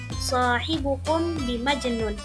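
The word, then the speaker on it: صاحبكم بمجنون: Nah, pada bacaan ini hafaz membacanya dengan tetap sukun sehingga dibaca shohibukum bimajnun.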